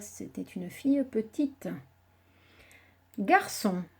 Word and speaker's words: garçon: Dans son, c'est le C cédille qui fait on. S'il y avait un C tout seul, avec le O, ça se lirait con.